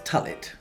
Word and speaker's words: Tullett: I'm sorry, it just rhymes with mullet. It's Tullett.